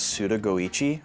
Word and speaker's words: Suda51: He writes his name as Suda51, but it's pronounced as Suda Goichi.